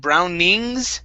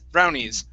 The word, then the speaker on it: brownies: nice next word is brownies instead of brownings with an ing it's brown knees brownies brownies okay one more